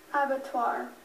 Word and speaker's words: abattoir: so may the best speller win Avatar Avatar abatar can I have a definition please this is